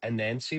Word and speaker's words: Anansie: if that's correct I looked it up it is a nansancy with the emphasis anan because a nansancy is the trickster goddess